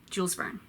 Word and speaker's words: Jules Verne: some guy de maupassant your van Julie very Jules Verne tale Fela Kuti a tea oh he'll go